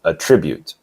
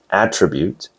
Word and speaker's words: attribute: The noun is attribute and the verb is attribute. The stress is on the first syllable for the noun, attribute, and on the second syllable for the verb, attribute.